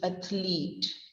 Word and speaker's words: athlete: Then the next word is athlete. ATH and LEET. It's on the same intonation, athlete. But it is ATH. It is broken into two syllables, ATH, LEET, athlete.